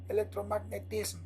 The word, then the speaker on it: electromagnetism: is the answer electromagnetism electromagnetism is you have to pronounce the M after the S it's not easy for me sorry electromagnetism practice is a form